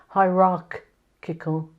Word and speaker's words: hierarchical: a hierarchy I think the thing here to notice is the pronunciation it's a very hard sound in the middle hierarchical hierarchy and the organization is